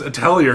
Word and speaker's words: atelier: Atelier? I thought it was atelier because there's a T in there, but it's French and no So word. the T's silent.